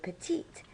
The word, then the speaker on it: petite: To describe Pauline, we would say Pauline est petite. We would add an E to petite to make it feminine, and we would pronounce the T that comes before the E.